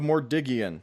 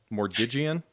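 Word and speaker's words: Mordiggian: I know used to tell me what it was, how to say it, but I would say Migian. Just use both G sounds because there's two G's.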